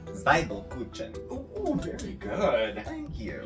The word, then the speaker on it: Zwiebelkuchen: Pronunciation. Zwiebelkuchen.